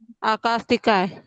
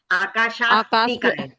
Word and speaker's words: आकाशास्तिकाय: आकाशिकाय। तो आप पहले इसको ही बराबर बोलिए, आकाशास्तिकाय। आकाशिकाय। आप श छोड़ रहे हो, आकाशास्तिकाय। आकाशिकाय।